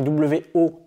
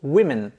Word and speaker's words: women: Notez la différence de prononciation du O, ça s'écrit W-O-M-E-N, mais on va prononcer plutôt women.